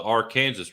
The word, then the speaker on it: Arkansas River: but the arkansas river in kansas is the our kansas river yeah people don't believe you when you